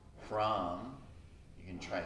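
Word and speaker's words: Hram: We can chant the Bij or seed mantra, H-R-A-M, Ram.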